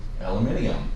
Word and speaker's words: aluminium: In British English, it's pronounced aluminium.